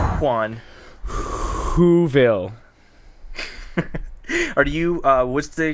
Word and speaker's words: Juan: Juan. You know it's not pronounced with an H sound in Spanish, no, it's right? Juan.